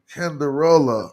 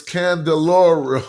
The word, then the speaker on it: Candelora: I hope I said her Canderola. I'm probably saying her name wrong, but if you Google it and put Hike Stokes, let me spell it so I can say her name right for you to give the source properly. But I can spell it, but I can't say it. So yeah. it's Candelora, Candelora, Danielle Candelora.